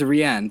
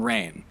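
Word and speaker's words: Reine: on that marielle played the character's name is rihann but the thing is it's spelled r-e-i-n-e so it spells like the name rain um which is what we all thought it was when we were so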